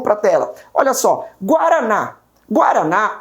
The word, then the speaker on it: Guaraná: Guaraná, a minha última sílaba termina em A. Ela é proferida com mais força.